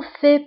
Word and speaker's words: fais: Ne t'en fais pas. بالنسبة هنا الفي اس آخر الكلمة لا تنطق.